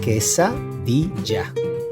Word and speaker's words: quesadilla: This is called quesadilla. Quesadilla. Remember, after the Q, the U is silent.